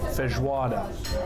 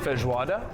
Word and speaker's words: feijoada: So if I'm not mistaken, the national dish is pronounced feijoada. Feijoada. Feijoada. Feijoada. I don't know. My Portuguese isn't great.